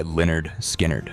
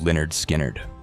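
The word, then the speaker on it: Lynyrd Skynyrd: Number four, Simple Man by Leonard Skinnard. A little bit of rock and roll. Strip away the solos and southern swagger and you get the heart of Leonard Skinnard.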